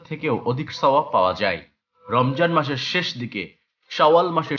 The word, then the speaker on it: রমজান: ও আরবি ও মুসলিম দেশ যেমন ইরান, বাংলাদেশ, পাকিস্তান এবং তুরস্ক এটিকে রামাজান বা রমজান হিসেবে উল্লেখ করা হয়, কারণ আরবি বর্ণের কারণে বর্গীয় জ উচ্চারণ তৈরি হয়।